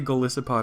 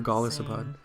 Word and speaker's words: Golisopod: do you say it I say golisopod or gospod with the water one